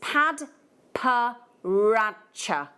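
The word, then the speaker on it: padparadscha: I I'll give you but it's pad per rater that's how you say it I calibrated half a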